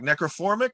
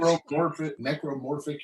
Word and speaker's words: Necromorphic: Opening track, Necroformic. Do I have that correct? Necromorphic Illumination. Necromorphic Illumination.